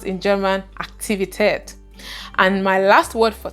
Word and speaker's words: Aktivität: The next word is activity, and it is pronounced in German Aktivität.